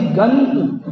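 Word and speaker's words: अधिगन्तु: क्या शब्द है वो अधि गंतु गमतु नहीं है गंतु है न का उच्चारण आना चाहिए उस अनुस्वार से गंतु अधि गंतु काम उसके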